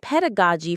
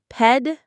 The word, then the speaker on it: pedagogy: Pedagogy. Pedagogy. The stress is on the ped syllable. Pedagogy.